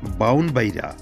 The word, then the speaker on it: ব্রাহ্মণবাড়িয়া: বলে মনে করা হয় ব্রাহ্মণবাড়িয়ার আঞ্চলিক উচ্চারণ বাউনবাইরা এছাড়া ব্রাহ্মণবাড়িয়া বিকৃত নাম